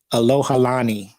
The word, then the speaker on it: Alohalani: and it's a k hello alohalani that's how you say it i was sitting there